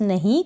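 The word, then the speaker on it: know: यहाँ पर W भी नहीं पढ़ रहे हैं इस वाले स्पेलिंग में, और K भी यहाँ पर साइलेंट है।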